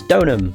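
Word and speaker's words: Deauxnim: I actually know how to say the name now. Because of the anime, the second season. Because obviously they cover Trial and Tribulations in that, and obviously they say the name. It's Donham.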